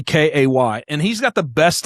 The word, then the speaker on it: Kay: I have a guest on and I'm like, how do I say your name? It's literally Kay.